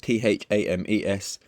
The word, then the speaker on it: Thames: the River Thames now I know this is spelled t-h-a-m-e-s but it's phonetically spoken like Thames t-e-m-s remember I've told you that